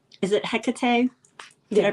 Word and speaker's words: Hecate: But there are also, I think, you know, like, is it Hecate? Did I pronounce that correctly? Yes. Hecate, I believe.